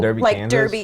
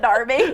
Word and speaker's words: Derby: place called Derby right next to Birmingham but it's spelled Derby so Derby Kansas so I would always say Derby and